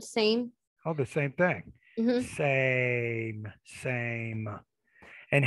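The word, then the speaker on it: Seym: okay go ahead so my last name is pronounced same and it's spelled s-e-y-m why but people say sign i'm not sure why they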